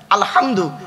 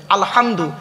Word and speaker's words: আলহামদু: আলামিন আছে না বাপেরা আলহামদু এই গলার ভেতর থেকে হেটা উচ্চারণ করবেন আলহামদু এর মানে হচ্ছে সমস্ত